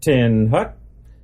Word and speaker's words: attention: teach and reinforce submission of the will attention pronounced 10 Hut is the beginning of all military Maneuvers just